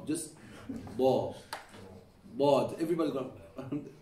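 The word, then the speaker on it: ض: Now, you're pronouncing it correctly, you just need to bring the back of your tongue up.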